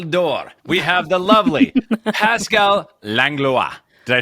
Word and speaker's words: Pascal Langlois: We have the lovely Pascal Langlois.